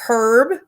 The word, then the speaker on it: herb: i also did a herb harvest yesterday do you guys say herb or do you say herb let's do a vote who says herb with an h with an h or silent h i want to know